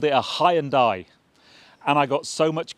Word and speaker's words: Hyundai: my British followers saying you're saying it wrong it's high and die well I'm ahead of the curve because Hyundai UK now have a press campaign going on social media telling us we've been saying it wrong for all of these years and it's not Hyundai it's Hyundai so I was ahead